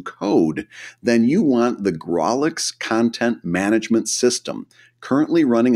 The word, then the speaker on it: Grawlix: If you'd like to host your own webcomic without learning any new code, then you want the Grawlix Content Management System, currently running a crowdfund campaign on Kickstarter.